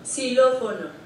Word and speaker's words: Xilófono: Xilófono.